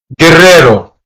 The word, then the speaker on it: guerrero: Guerrero. Guerrero. Guerrero. Which means warrior. Right? The U is also silent because there's no umlauts or dots above the U.